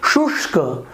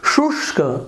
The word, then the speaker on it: शुष्क: उसी प्रकार के शुष्क, शुष्क, शुष्क नहीं, शुष्क, तो यहाँ पर देखिए स का भी उच्चारण हो रहा है शु, फिर हम स के लिए आधा स के लिए पीछे का भाग को यहाँ पर उच्चारण किया हमने शु श, तो ये जो श है आधा षटकोण का श वो पीछे से किए, और क, तो शुष्क, तो देखिए श है थोड़ा भारीपना आया।